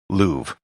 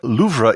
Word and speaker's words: Louvre: rest of this episode i'll be using the most standard english pronunciation of the museum louvre the reason for this is that this podcast is in english and luvra isn't how it's commonly